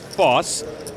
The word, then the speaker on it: Vos: a dime Mark Foss with ace8 off suit Foss was nearly 2 hours late on day two due to a midm morning nap luckily the phone rang F's name is spelled v but pronounced false Annie Duke with pocket sixes she had a